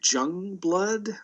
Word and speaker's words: Joungblood: Joungblood. Don't even say. Yeah. Starts with a J, pronounced as a Y.